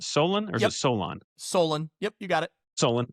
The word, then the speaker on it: Solon: Is that how you pronounce that? Solon? Or is it Solon? Solon.